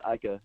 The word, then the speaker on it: Ika: Is it Siaka Ika? Is that how you say it, Professor O? Yeah, it's Ika.